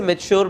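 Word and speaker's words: mature: अब पढ़ने को मैंने गलत नहीं पढ़ा, बट इसे मेच्योर पढ़ते हैं। सो इसकी right pronunciation is मेच्योर, but just because मुझे नहीं आता था तो मैंने इसे गलत पढ़ा।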